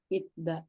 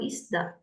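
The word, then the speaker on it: 있다: Itda. Ita. Jadi yang ini bacanya bukan isda, tapi i i d d a. Nah, ini cara bacanya aja.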